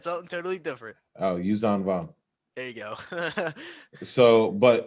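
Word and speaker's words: Yuuzhan Vong: Oh, Yuzan Vong.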